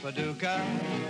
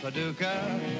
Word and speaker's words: Paducah: Paducah, Paducah, just a pretty little city in Kentucky, but to me it rhymes with lucky when I'm looking in your two blue eyes.